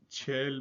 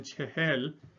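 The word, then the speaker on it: چهل: The number of 40 or Chehel, or in informal Iranian we say Chel, but informal Iranian pronunciation Chehel, the number 40 or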